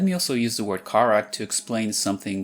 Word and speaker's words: Karak: For example, native Portuguese words never end in a c sound. So to make something like karak easier to pronounce, Brazilian Portuguese often inserts a dummy vowel e. Karaki.